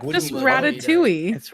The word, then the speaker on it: ratatouille: do you feel like what do you think ratatouille that's right you can pronounce it with all of its letters or